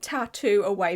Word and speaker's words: Tatt2Away: That's literally the brand's name, Tattoo Away, but it's spelled T A T then the number two then away.